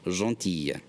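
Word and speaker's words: gentille: notice with this one it changes the pronunciation the masculine form is John teal the feminine form becomes donkey yeah that il le makes the year sound Jean Tia and lastly some additives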